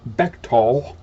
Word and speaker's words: Bechtel: stanford research institute the betchtel corporation etc fetchtel pronounced bechtol is a super-secret international corporation octopus founded in